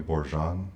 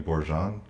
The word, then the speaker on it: Borjon: you say your name last year and then spell it in that order okay uh my name is borjan undergraduate class of 2010 graduate class of 2017.